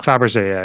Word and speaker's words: Fabergé: Is this pronounced Fabergé, the eggs? Yeah. Fabergé egg.